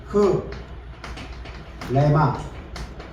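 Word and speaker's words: ῥῆμα: 근데 정확하게 해서는 흐레마예요. 요게요 위에 있는 요게 발음이 흐예요. 흐 흐레마. 일반 사람들은 요걸 발음 안 하고서 그냥 레마라고 하는데 정확하게 말했으면 요걸 해 줘야 돼요. 그래서 흐레마.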